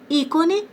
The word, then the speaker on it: ícone: Cipó, pássaro, ícone, saúde, açaí, boné, público, saída, café, dominó. Então, o acento é que vai determinar qual é a sílaba forte, ó. Ícone. Então, o I é mais forte.